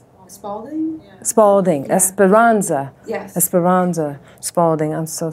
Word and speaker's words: Esperanza: the, what's the woman, I always say her name wrong, Esperalda. Oh, Spalding? Yeah. Spalding. Yeah. Esperanza.